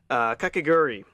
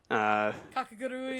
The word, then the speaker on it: Kakegurui: Kakegurui. Kakagurui. Kakegurui. Yeah, I always keep missing a syllable there.